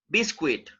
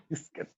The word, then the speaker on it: biscuit: a cookie right but i've heard some people pronouncing this word like bisquit it's not biscuit okay biscuit it's not biscuit it's biscuit this biscuit biscuit biscuit